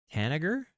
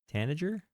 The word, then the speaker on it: tanager: And it's looking like we have the Owl and the Tanager. Tanager? I don't know how to say that word. I don't know what it is. I feel stupid when I don't know a word.